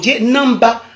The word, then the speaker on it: namba: de la colonisation britannique on dit Namba au lieu de au lieu de pardon